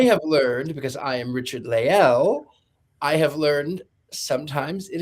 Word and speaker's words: Richard-Lael: Uh, so my first name is Richard Leel.